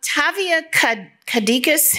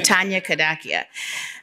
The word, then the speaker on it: Tanya Kadakia: but I do um Tavia cadicas am I butchering your name totally butchered the name Tanya kadakia uh good question how